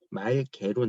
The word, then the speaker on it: 맑게: 오게 되면 예를 들어서 맑게, 맑고 이렇게 맑게, 맑고가 발음이 되면은 이거는 말개로 나고요. 이것도 말고로 나요. 왜냐면 기억과 그 뒤에 기억이 오잖아. 기억이 겹쳐지니까 이때는 기억을 빼주는 거야.